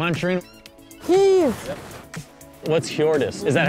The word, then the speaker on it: Hjordis: What's Hjordis? Is that how you Hjordis. Pronounce it?